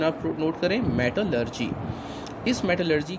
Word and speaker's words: मेटलर्जी: इसकी प्रोनाउंसिएशन आप नोट करें, मेटलर्जी।